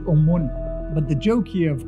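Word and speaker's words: ОМОН: If you look at the text on the back of them, in Russian you pronounce it Omon.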